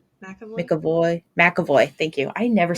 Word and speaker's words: McAvoy: James McAvoy. McAvoy? McAvoy.